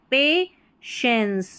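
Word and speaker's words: patience: यहां पर टी आई जो है ना इसको श प्रोनाउंस करना है तो पेशेंस पेशेंस।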